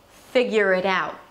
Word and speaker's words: figure it out: The T at the end is just a held T or a very light T, so you don't have to overly pronounce it. Figure it out.